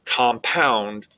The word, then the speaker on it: compound: stress points or accents the word compound you'll see there's a stress on the second syllable likewise with the word